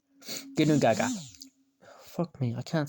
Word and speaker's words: Ginnungagap: Ginnungagap. Pav, the baby is trying to learn English. Ginnungagap. I'm not joking, that's how you say it, I think. Gin, noon, gag, app. Ginnungagap.